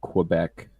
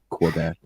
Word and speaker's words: Quebec: Like, and that like a couple of Quebec regions, and they haven't even. I know the French hate that W in Quebec. Yeah. How are you supposed to say it properly? Quebec.